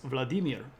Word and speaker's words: Vladimir: cze was part of Vladimir linen uh and I've learned that Vladimir is not actually the way that you say that uh that name it's Vladimir so there we are accents on the middle so so I said